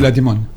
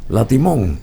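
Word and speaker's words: La Timone: Sí, así se pronuncia. Sí, Latimón. Latimón.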